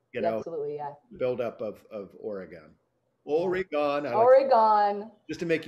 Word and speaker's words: Oregon: people we're still there oregon morgan oregon yeah which is weird because it does sound like an organ is the same thing